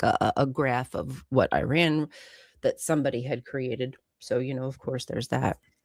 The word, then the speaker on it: Iran: Theo says it's pronounced Iran, not Iran.